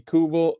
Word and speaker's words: Nicholas Abi Kubel: They lost Nicholas Abi Kubel.